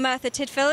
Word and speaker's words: Merthyr Tydfil: You're from Merthyr Tydfil, is that right? That's excellently pronounced.